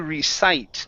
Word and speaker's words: recite: Let's go to he was about to recite. This is a long I sound.